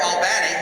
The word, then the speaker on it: Albany: Played in, depending on how you say it, either Albany or Albany, as they used to tell us when we were doing the broadcast.